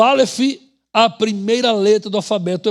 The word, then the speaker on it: alef: A letra Alef, ela se escreve, mas não tem som, tá? Ela assume o som da letra posterior, a vogal que vai ser posta nela.